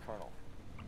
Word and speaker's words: colonel: That's Colonel. No, Colonel is remember taller than training. Elf. Make us no, proud. You pronounce it Colonel.